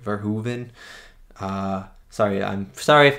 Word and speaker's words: Verhoeven: been four movies now i heard someone in the comments said it was like ver hoove and like hoover damn right so i'm just